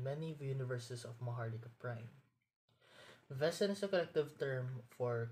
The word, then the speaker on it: Wesen: mythology of it all came to be now vessen or German meaning a being or sentient creature are subra of metahumans and are Sub sub type of dominant species endemic in many universes of mahara prime vessen is a collective term for creatures that Grims